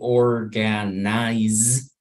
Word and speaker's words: organize: But in English, you need to try to say organize so that you get the correct pronunciation, because maybe you don't notice or you may think it's not important, but a native person will realize about it.